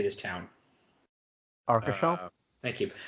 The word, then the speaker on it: Arcachon: Arcachon? Thank you. Arcachon.